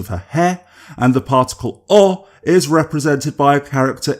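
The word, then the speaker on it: を: To the best of my knowledge, it's still pronounced as o.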